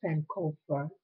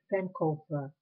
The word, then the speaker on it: Sankofa: It's called Sankofa. It's spelled Sank, is in kite, O, F is in Frank, A, Sankofa. It's a Ghanaian word.